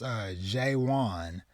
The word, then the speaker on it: Jae-won: our MC, which I believe his name is pronounced Jae-won, I was intrigued.